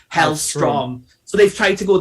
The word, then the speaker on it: Hellstrom: his code name is hell stone but it's pronounced hell strong so they've tried to go that way rather